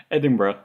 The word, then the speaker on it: Edinburgh: said their name wrong. Sorry. What's the correct? Edinburgh.